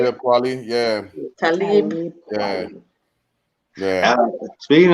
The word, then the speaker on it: Talib Kweli: Talib Kweli.